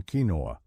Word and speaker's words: quinoa: Quinoa, pronounced quinoa, may look humble, but its nutritional profile is anything but.